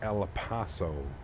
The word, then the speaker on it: El Paso: Side note, we pronounce it El Paso.